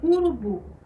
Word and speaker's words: urubu: A palavra urubu. Aonde é que está a sílaba tônica nessa palavra? Na última sílaba, né? Na sílaba bu.